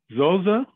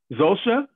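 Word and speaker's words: Zosia: Zosa? Did I pronounce it right? No, but it's totally okay. It's well, Zosha. Pronounce it to me. Tell me. It's Zosha. Yeah, that's why it makes a sh sound.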